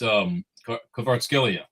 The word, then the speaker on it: Kvaratskhelia: It's Kvaratskhelia.